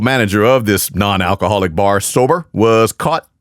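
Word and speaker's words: SOBR: The bar's name is spelled S-O-B-R, sober, which the manager was not, if going by local police and prosecutors.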